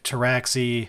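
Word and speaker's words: Pteraxii: sulfur hounds and five traxi which can either be sterilizers or Sky stalkers the P silent the p is silent deep cut for people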